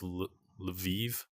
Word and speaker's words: Lviv: Yeah, it's Lviv.